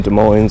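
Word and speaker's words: Des Moines: Washington de Moes yes but it's spelled like Des Mo correct okay wait is it like is the S Sil is it like Illinois or is it Illinois de Mo de Mo say de Mo de Mo de Mo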